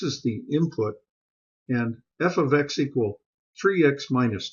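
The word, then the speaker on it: f(x): 3x minus 2 can also be written as f of X equal 3x minus 2 this is called function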